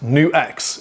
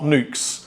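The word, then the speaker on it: NUX: Anyway, today we're at Play Vintage because this is where I first found out about the brand New X. It's pronounced New XDAM, not Nukes.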